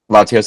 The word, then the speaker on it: Latios: Is that canonically how you say it? Latios and Latias? Yeah. Yes.